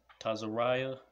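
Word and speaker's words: צרעת: Tazariah is how you say leprosy, right?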